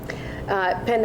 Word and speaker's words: penne: me about the pasta is that penne pasta or pan penne is how they would pronounce it in italy okay that's always i